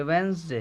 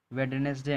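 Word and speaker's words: Wednesday: ये वेंसडे है, ये क्या है? वेंसडे। ये है वेंसडे। वेंसडे, वेंसडे, वेडनेसडे नहीं।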